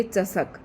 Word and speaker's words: चसक: एक में श है। मूर्धन्य श है। दूसरे में दंती श है। दोनों का ध्यान रखना है। चशक और यह चसक। बस ऐसे ही पढ़ना है आपको।